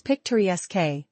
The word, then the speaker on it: picturesque: It's picturesque, with stress on the third.